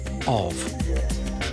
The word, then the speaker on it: of: their brain overlooks the word of because the f is pronounced like a V Tina Turner loves her